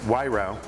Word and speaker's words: Wairau: most marlboro wines are a little difficult to pronounce it's wairau is the river so what marble's in